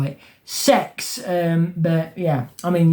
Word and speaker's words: CeX: c ex is or if you want to say it's SE indeed as they do sex cuz that's how they say it on the advert they say sex but it's a c it's an e it's an X it's a c not an S it's a c but they still call it